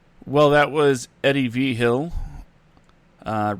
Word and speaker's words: Vigil: something at the end my last name i've tried to tell you it's pronounced uh v-hill wow i've been mispronouncing